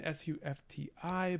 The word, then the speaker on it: sufti: So suf, written S-U-F-T-I, but pronounced sufti because of our vowel harmony rule that we made, our rule 1.